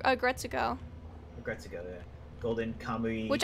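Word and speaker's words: Aggretsuko: It's pronounced Agretsuko. Agretsuko, Agretsuko, yeah.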